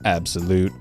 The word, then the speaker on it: Abxylute: Both of these controllers were sent over by Abxylute, pronounced Abxylute, for review.